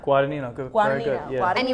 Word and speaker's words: Guadagnino: How do you say Guadagnino? Guadagnino, good, very good.